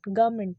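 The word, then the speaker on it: government: इसका जो correct pronunciation है वो है गवर्नमेंट, गवर्नमेंट, गवर्नमेंट। र को साइलेंट करिए, गवर्नमेंट, गवर्नमेंट।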